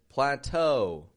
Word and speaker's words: plateau: It makes this ah sound, but if AU comes at the end of a word, it makes an O sound. Tableau, plateau, O.